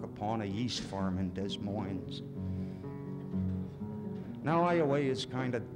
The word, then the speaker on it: Des Moines: So by July, a pair of twins had sprang from out their loins. Rhymes with Moines.